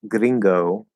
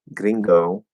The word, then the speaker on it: gringo: accent right if you say like gringo gringo right instead of gringo gringo um it's gonna that o that english o instead of oh it's to stand out